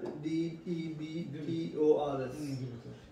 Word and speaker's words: debtors: written debtors debtors yeah D E B T O R S you don't pronounce the B you just better read debtors that's it B silent yeah B silent exactly So, 2500 and then we have sales here, that's fine.